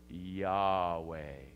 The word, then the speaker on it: Yahweh: the w e sound so together these sounding them out phonetically say yahweh land of the nomads